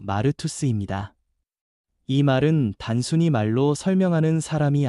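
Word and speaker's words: μάρτυς: 증인이라는 말은 헬라어 발음으로 마르투스입니다.이 말은 단순히 말로 설명하는 사람이 아니라 자기 삼전체로 예수님이 살아 계심을 보여주는 사람을 뜻합니다.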